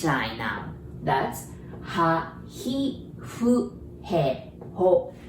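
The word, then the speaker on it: ふ: That's ha, hi, fu, he, ho. Remember this fu? We don't have F pronunciation. So we pronounce it like blowing the candle. Fu, fu, okay? Fu.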